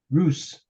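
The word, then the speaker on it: רות: Rus. Rus. What would that be? Ruth. Ruth. See how I'll tell you, folks, you Gentiles don't know how to pronounce the Hebrew.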